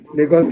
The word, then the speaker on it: Lagos: completed my bse finance uh who is university lagost is investing uh sorry i don't understand okay